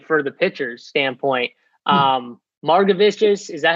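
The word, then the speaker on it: Margevicius: texas seattle game for the pitchers standpoint um marga vistas is that how you say his name holden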